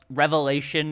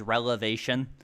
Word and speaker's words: revelation: He mispronounced revelation in one video as relevation.